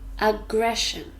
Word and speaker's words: aggression: look closely at aggression aggression three syllables ah gray shown here the Shh sound